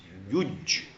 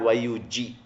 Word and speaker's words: yuj: It is not Y-U-G. It can be pronounced then yug. Y-U-J. How do you pronounce it? Yuj. Can you pronounce it as yug? No. No way. Y-U-J is pronounced as yuj.